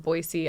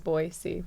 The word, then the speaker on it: Boise: I mean I love Boise Idaho I love I'm saying it right we know we know Boise yeah you get off the plane and it says boy see this there are so